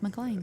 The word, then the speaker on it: McLean: And we're going, I mean, look, it's not McLean, it's McLean.